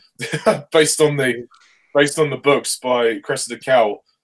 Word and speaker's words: Cressida Cowell: based on the books by Cressida Cowell. Cressida Cowell. Cressida Cowell.